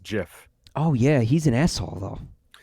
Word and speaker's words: GIF: star-like a bet yeah the gif decides that it should be pronounced jiff oh yeah he's an